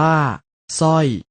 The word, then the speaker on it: สร้อย: เริ่ม จาก คำ ที่ ออก เสียง พยัญชนะ ตัว หน้า เพียง ตัว เดียว เช่น คำ ว่า สร้อย สร้อย อ่าน ว่า สร้อย สร้าง สร้าง อ อ่าน